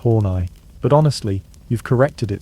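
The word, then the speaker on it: Horney: Enter you, Karen Horny, pronounced Hornai.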